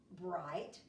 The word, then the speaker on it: bright: was your base word bright tap it her eye bright so let's write the sounds I heard I but I remember from last week about mr. G H mr. gh is silent you silent I I